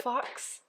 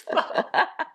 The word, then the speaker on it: faux: Like the fox flowers and the fox. Fox? That's right. Oh wait, faux. Huh. It's faux. The X is silent.